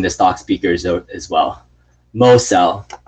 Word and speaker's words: Mosel: Mosel. This is how I say Dan Mosel. I keep saying Moisel. Mosel, like Mo. Mo, Mo, Mo.